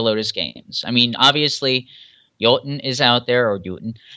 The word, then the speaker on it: Jotun: we've got it always comes back the actual pronunciation is yatin and in norway it's actually using but we say our i say choten because i don't want people searching for y